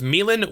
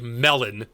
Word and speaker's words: Milan: Virtus Pro replaces Amissian with Milan, which is the proper way to pronounce it, I've learned, and not like melon.